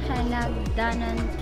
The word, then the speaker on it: Hinagdanan: The stress is always in the middle.